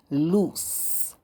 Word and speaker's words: loose: pen in the classroom loose is pronounced as if it has one o with an S sound at the end loose loose means not tight